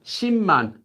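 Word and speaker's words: 십만: is ten ten thousands so ship Mun which is pronounced as Shi Mont due to sound change rules and then this one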